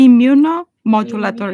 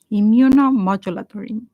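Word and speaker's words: immunomodulator: goodness gracious imuno so you say imuno modulator modulor eight syllables eight syllables imuno modulator yeah in microbiology we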